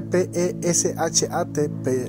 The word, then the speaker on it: pesha: nivel es el pesa el pesa no es el pesa de la Pascua el pesa se escribe p e s h a el pesha pesa o pesa este nivel